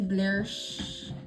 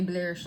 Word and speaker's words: Blish: for my made you blish that's what it's literally called y'all so when y'all hear me say blish I'm not making it up that is how it's pronounced it's made by Mitchell